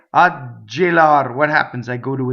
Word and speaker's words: gelar: So, ggelar, rolled R, one L.